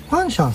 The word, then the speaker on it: fanxiang: ファンシャン、これでファンシャンって読むみたいですね。